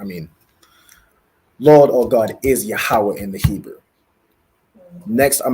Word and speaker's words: Yahawah: another word I want you to get is yahawah so ya a ha a w a h